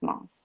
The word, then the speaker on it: months: وقتی این آره month مفرده همین th به صورت th تلفظ میشه month، ولی وقتی s جمع میگیره میگیم months. th رو یعنی صدای th رو اینجا به صورت ت تلفظ میکنیم به خاطر راحتی تلفظ، سهولت تلفظ.